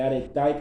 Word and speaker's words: arete: arete, por ele ser arete ou arete, né? Na verdade, acho que ele, se não me falar a memória, a pronúncia correta é aretai, que vem do grego, enfim.